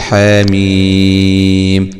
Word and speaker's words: حم: القرآن بيختلف عن ذلك، عندما يكون الحاء والميم عليه علامة المد هناك بنقول حاميم هكذا.